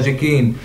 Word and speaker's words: جيكين: تستدعي الالتفاظ بالكلمة السرية، وهذه الكلمة هي جيكين، وتلفظ بحروف متقطعة جي ألف كي ي نون.